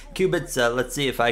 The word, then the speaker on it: Kubica: know I was saying kubica it's old habit so I used to call his name I know I'm saying it wrong cubitz uh let's see if